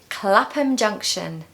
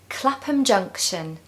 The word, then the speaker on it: Clapham Junction: Stow number eight is Clapham Junction Clapham Junction Clapham Junction so this is another example of a word that ends with ham or ham which is pronounced if you remember as um so it's Clapham Junction